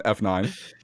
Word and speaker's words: F9: You know how to pronounce this one? F9. Not fate.